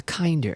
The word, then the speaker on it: Kinder: That's how you can tell Americans don't have Kinder eggs, is when we pronounce it weird. It's kinder, right? Like garden.